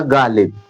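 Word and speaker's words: Ghalib: जैसे मैंने लिखा गालिब।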